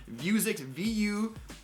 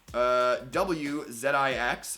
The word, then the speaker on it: Vuzix: Vuzix, VUWZIX, I believe is how they pronounced it, and it's the M100.